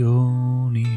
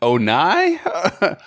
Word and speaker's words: Oni: How else would you pronounce it? Now you've got me second guessing everything. Onai? Oni. I don't know. Oh, it is Oni.